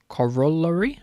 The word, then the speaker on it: corollary: how do you say is that how you spell it that one how do you say this word corollary okay um it's one of those um so